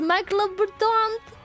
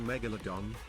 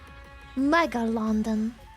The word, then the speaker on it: Megalodon: Megalondon.